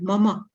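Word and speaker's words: मम: This is not mom, but mama. Okay. Mama. We have to pronounce mama.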